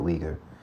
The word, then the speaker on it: Uyghur: of genocide against the uyghur that's how you would say that it can either be spelled you y g h u r or u i but you pronounce it weaker the weaker minority so